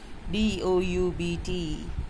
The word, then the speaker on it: doubt: एक तो I'll tell B is silent here. DOUBT. I have a doubt. Highlight that B and tell them better. We are not going to say this letter, so this is going to be quiet, silent.